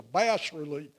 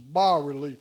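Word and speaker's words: bas-relief: Arty people in Charleston I said a bass relief they said no it's not a bass relief it's a bar relief it's French so a bar relief is a piece of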